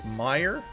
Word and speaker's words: Meijer: know what that is how do you pronounce that mayor mayor is a store similar to Walmart as prevent oh so it's Meijer oh okay so similar to Walmart I've never